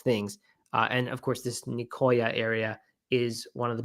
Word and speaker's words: Nicoya: I always thought it was Nisoya because the C has that little thing under it that makes a hard C turn into a soft C. But I talked to someone who lived here, and he said it was Nicoya, so I don't really know.